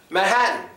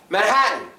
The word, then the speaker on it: Manhattan: part about it is the T sound is not made at all it is absolutely silent Manhattan Manhattan but the